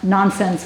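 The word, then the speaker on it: Nansen: to read for us nonsense cat nonsense is the um the Japanese pronunciation of nonchon and I don't speak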